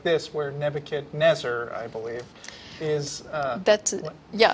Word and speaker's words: Nebuchadnezzar: notice I use the pronunciation Nebuchadnezzar.